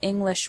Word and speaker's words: English: You probably already know that individual English words have stress. For example, the word English has the stress on the first syllable, ing.